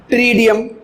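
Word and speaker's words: Pteridium: अब देखो ये टेरस पी साइलेंट है, टेरस, ड्रायो इसमें पी साइलेंट है, टेरस, एडिएंटम और ट्रीडियम इसमें पी साइलेंट है, ट्रीडियम।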